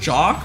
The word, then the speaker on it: Jax: It's pronounced Jock?